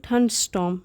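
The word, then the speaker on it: thunderstorm: दौरान, अ थंडरस्टॉर्म तो इसकी प्रोनाउंसिएशन होती है थंडरस्टॉर्म। यहाँ पे ये आर साइलेंट होता है और ये भी आर साइलेंट होता है, इसे पढ़ते हैं थंडरस्टॉर्म।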